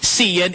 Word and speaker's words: Cian: It's not pronounced with an X. It's pronounced with an S. Mitch doesn't make it the same. No, Professor Xavier is pronounced with an X. Cian is not. It's pronounced with an S or a C, however you say.